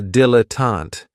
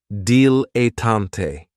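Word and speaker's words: dilettante: my favorites is a dilatant and this word has three syllables and there's kind of like a stress on that first and last syllable deante the reason I say it's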